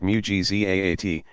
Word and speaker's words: mu'jizat: Pronounced mu'jizat, and those effected by friends of God marvels, karamat, pronounced karamat.